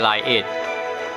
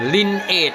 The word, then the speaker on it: Lineage: นั่น เอง นะ ครับ แต่ แอด ใช้ ออก เสียง ผิด แอด ออก เสียง เป็น Line Edge แต่ ว่า ใน โฆษณา เค้า ออก เสียง เป็น Lin Ege นะ ครับ อัน นี้ เป็น